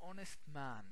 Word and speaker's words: honest: the H is silent h is consonant but we don't pronounce it it's silent that's why we follow